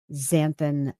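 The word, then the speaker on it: xanthan: We have galan gum, guar gum, zanthan gum, and that's spelled with an x.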